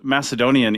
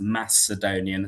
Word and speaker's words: Macedonian: So yes, in ancient Greek, the letter kappa can be either used for C or for K. When you see Macedonian, as in pronounced Macedonian, as in a soft C, that's much more of a Koine Hellenistic thing.